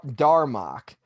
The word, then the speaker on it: Darmok: How do you spell it? Don Rock. No, well, Darmok.